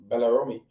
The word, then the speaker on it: Belarome: How do you ensure, though, Tia, that your Belarome, am I pronouncing it right?